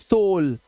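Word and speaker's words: soul: देखो दिख रहा है, तो ओ यू का उच्चारण अब ओ हो जाएगा। जैसे सोल, अब इसे साउल सूल नहीं पढ़ना है, अब इसे शोल्डर नहीं पढ़ेंगे, इसे शोल्डर।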